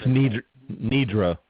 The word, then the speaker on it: Nidra: And then May 2016, with the help of Karen and, is it Nidra or Nedra? I'm never sure how to pronounce her. It's Nidra.